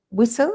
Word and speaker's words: whistle: then um ed uh whistle silva that's right careful of the pronounce of the spelling carlos of whistle it's w h i s t l e there's there's a silent t in whistle eduardo's got a question